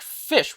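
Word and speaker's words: ghoti: Pronounced like fish. What? Pronounced like fish. It achieves this by borrowing sounds from other common English words. GH as in Tough like the F sound.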